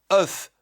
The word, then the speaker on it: œuf: Voilà pourquoi la graphie oe e se lit e. Voilà pourquoi on écrit sœur, cœur, œuf, meur et cetera.